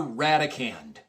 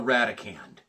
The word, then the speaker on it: radicand: The number that is placed underneath there is called the radicand. R-A-D-I-C-A-N-D. Kind of similar in pronunciation, so to speak, to the number that is placed underneath a long division symbol.